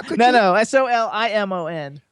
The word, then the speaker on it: Solimon: And it's Solimon. No, it's Solimon. That's what I just How said. could you Oh, be okay. I think Solomon? it's SA. How could No, you, no, Solimon.